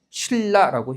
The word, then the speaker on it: 신라: 니은과 리을 만난 경우에 해당하는 거니까 당연히 발음 어떻게 해야 돼요? 신라라고 해야겠죠.